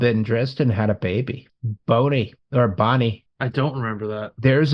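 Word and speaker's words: Bonea: new skull went to Bonnie. I always pronounce it Bonnie, even though it's spelled Boney.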